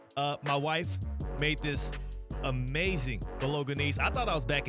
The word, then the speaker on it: Bolognese: Bolognese. Bolognese? Mm-hmm. Soft G.